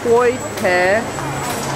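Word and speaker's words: Koi Thé: Mayu tells me that this is Koi Te, but it's spelled like Koi The, but with a Te.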